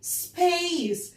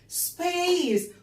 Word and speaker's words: space: ليه قلنا A عشان فيها E في الآخر. الماجيك E بتخلي الحرف A بيتنطق زي اسمه، فنقول space space فضاء space فضاء space.